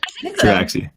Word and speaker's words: Tabaxi: Okay, so in walks a Tabaxi. Tabaxi, is that how you say it? Uh-huh. Tabaxi.